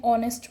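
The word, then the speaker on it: honest: Such an ऑनेस्ट मैन। ये क्या है? एच इसमें साइलेंट हो जाएगा। तो इसको क्या प्रोनाउंस करेंगे हम? ऑनेस्ट।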